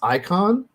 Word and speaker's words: Äican: there in the title it's apparently pronounced icon and it's really really